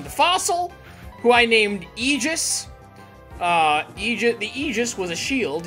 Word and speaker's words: Aegis: Like I said, I could stretch the, and it makes sense, because, and that's how it's pronounced, by the way. It's not Aegis, or Aegis, it's Aegis.